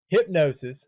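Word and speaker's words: Hipgnosis: into the company that bought his music okay hypnosis spelled h-i-p-g-n-o-i-s-s o-s-i-s and it's this uk company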